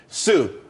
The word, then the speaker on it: TSU: there's more money and everyone could be happy Sue TSU it's pronounced Sue though that's that's a website.